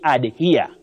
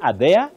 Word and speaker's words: adhere: of lives of malindi you say Ad here ad here Betty have you heard people saying are there anywhere in your life absolutely are there are there too yes are there are there are there are there no you don't use that sounding or such soundings you say to adhere to something adhere then adherence